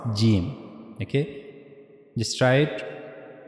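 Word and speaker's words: جيم: So that's how we have to pronounce gimm. Okay, just try it. G the middle of the tongue should be meet with the roof of the mouth. That's how you have to pronounce gimm.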